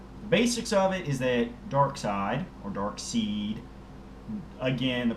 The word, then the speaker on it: Darkseid: But Darkseid, as I usually like to think of him, as I personally like to pronounce it, because there is an I there, even if it is, closer to the E then.